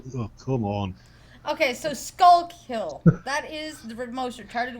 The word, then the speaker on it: Schuylkill: It's actually Skullkill.